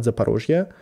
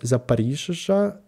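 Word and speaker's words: Zaporizhzhia: It's not Zaporizhia, but it's like Zaporizhia. It's like really Ukrainian pronunciation.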